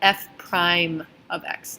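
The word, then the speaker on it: f′(x): a little apostrophe and the way that we pronounce that is called f prime of X F prime of X and the definition of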